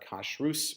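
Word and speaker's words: Kashrus: used to get it called Kosh ruse magazine so not kashrut as we would pronounce it but cash ruse magazine and Joe regenstein always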